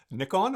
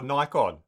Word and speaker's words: Nikon: today, I have the Nikon or Nikon. Nikon. Nikon. Nikon. Well, that's that's a tricky one, isn't it? I always say Nikon, but I think it depending where you are, it might be Nikon.